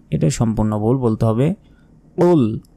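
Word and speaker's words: قُلْ: সম্পূর্ণ ভুল বলতে হবে কুল কুল লাম পেশ কুল মোটা করে উচ্চারণ হবে কুল হু আল্লাহু হু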